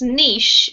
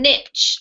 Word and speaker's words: niche: thank you lovely Monica this word here is pronounced Niche if you're British and Niche if you're American okay and what does